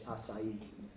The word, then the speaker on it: Asai: And it seems that the Yonsei are all returning to the proper Japanese pronunciation of the name, which is Asai.